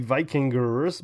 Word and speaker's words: Vikinger: uh memory management let's be vikinger because it's spelled with an r at the end use promo code TV